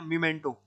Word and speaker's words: memento: तो मीमेंटो, MEMENTO, ये MO मोमेंटो, मोमेंटो मोमेंटो नहीं मीमेंटो।